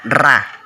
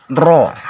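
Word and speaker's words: ر: Pengucapannya diikuti bibir agak maju. Jadi kalau kita menyebut huruf ro, maka bibir agak maju. Ro, bukan ra, tapi ro.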